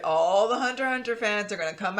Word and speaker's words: Hunter x Hunter: whatever and it's just the x's are supposed to be silent so i was just